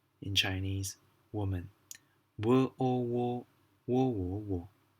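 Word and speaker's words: 我们: again well how come there is no tonal size above the men that is because it is not part of the four tones it is a neutral tone and doesn't have a sign it is just being pronounced a short in life quickly like that man okay let's do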